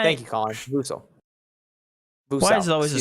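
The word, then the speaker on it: Vassell: Oh, it's Vusel. Okay, so I've been pronouncing it wrong. Thank you, Colin. Vusel.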